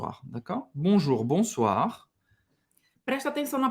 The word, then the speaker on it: Bonjour: vou deixar alguns Alguns o ar da Ka Bonjour bonsoir preste atenção na pronúncia Só não vai estar aqui Bonjour o